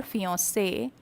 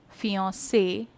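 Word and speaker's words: fiancée: to somebody he says fiancee with a double e there's a difference in writing the pronunciation is the same as fiance then who is a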